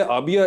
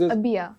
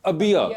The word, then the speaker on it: अबिया: पहले तो मुझे ये आपके नाम की प्रोनाउंसिएशन सही है? आबिया? इट इज अबिया। अबिया, okay.